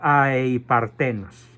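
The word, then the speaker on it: ἀειπάρθενος: a partenos a partenos a e i partenos o a i partenos Aunque es más eufónico a partenos con acento en la e Santo Tomás de Aquino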